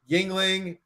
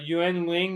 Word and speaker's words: Yuengling: i've never seen before it's actually pronounced ying ling but uh i think uh yuan ling is not from china